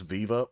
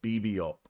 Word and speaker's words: VVUP: so much this is I thought it was Viva but I looked closer and it's actually pronounced BB up uh with doom doom chit uh yeah I